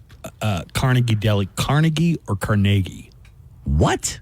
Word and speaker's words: Carnegie: Do you pronounce Carnegie Deli Carnegie or Carnegie?